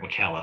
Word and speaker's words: Ocala: Okay, make sure I pronounce that right. Ocala.